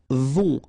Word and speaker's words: vont: Right, then ils vont. Final T not pronounced, and then O and together, on vont.